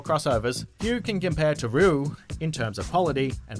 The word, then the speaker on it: Ryu: While other characters might have more crossovers, few can compare to Ryu in terms of quality and variety. And also, I found out his name is only pronounced with one syllable before anyone starts going crazy in the comment section.